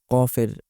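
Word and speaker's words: قاف: কফের উচ্চারণ কাফের মত করে ফেলে। বাংলা বর্ণমালায় ক যেভাবে উচ্চারিত হয় তেমন করে ফেলে। কিন্তু কফের উচ্চারণ কিন্তু বাংলার কর মতো হবে না। একটু গলার গভীরে নিয়ে তারপর উচ্চারণ করতে হবে। কফ কাফ কাফ।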